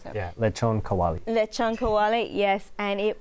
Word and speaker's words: lechon kawali: To pronounce that. Yeah, lechon kawali.